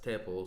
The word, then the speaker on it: tuple: data type in Python called the tuple, or I have heard other people pronounce it as tuple, so it depends on where you come from. So if you hear tuple or tuple, you know I'm talking about the same thing.